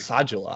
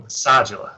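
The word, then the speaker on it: Asadullah: Asajula. I found that it's pronounced that way watching the game. So Asajula, excuse me.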